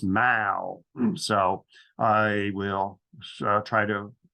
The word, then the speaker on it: The Mall: I was in London it's not pronounced Maul as an American would but it's pronounced Mao so I will try